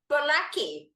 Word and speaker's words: Bolaky: It's my great pleasure today to welcome Bolaky. Now, have I pronounced your surname right? Bolaky.